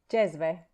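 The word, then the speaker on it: džezve: Jezve.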